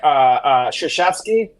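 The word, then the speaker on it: Krzyzewski: Like for instance, Coach K, like Shashevsky. Right. Just know that. Don't try to spell that one.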